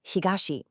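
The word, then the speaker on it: 東: Then we have east pronounced higashi.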